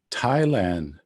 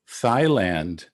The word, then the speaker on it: Thailand: instance the country called thailand it's not thailand as we might think as english speakers it's an aspirated dental thailand my tongue sort of